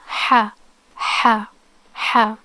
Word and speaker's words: ح: so it's pronounced like ha ha ha okay how to pronounce it is pronounced from the mid of the throat okay um as the